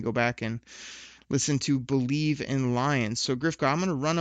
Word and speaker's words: Bleav: You made your debut on Believe, that's spelled BLEAV, in Lions, my other podcast that drops on Monday mornings.